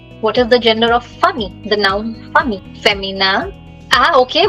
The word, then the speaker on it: famille: So last letter is silent, double L is silent, only famille.